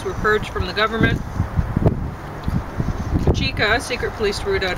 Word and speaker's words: Cheka: Incidentally, the correct way to pronounce that roughly is Cheka.